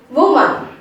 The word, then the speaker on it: woman: That is woman. Okay, woman, you have to take the first syllable as W-O-O-M. Womb, and A-N is taken as U-H-N. It's woo-un. Woo-un. It's totally woman.